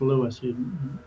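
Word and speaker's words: Lewes: People call it Oh, I'm going to lose beach. No, it's Lewis.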